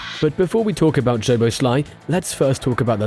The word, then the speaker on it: Szoboszlai: Szoboszlai. Nice. So the SZ sound is pronounced just like the letter S in the English word pleasure.